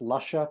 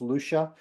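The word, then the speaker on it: Lusha: If you look at the spelling, it looks like it's pronounced Luscia, but it's really pronounced Lucia. Lucia is Eastern European for grandmother.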